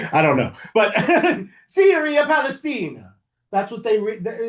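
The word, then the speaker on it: Syria Palaestina: So they rename it, close, no, Syria Palestina. I have to try and say it like an Italian, because they're Romans. I don't know if that's how they sound. I don't know. But Syria Palestina.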